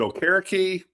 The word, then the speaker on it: Okereke: The former walk-on, was it Okereke? Yeah. Is that how you pronounce his name? Yep.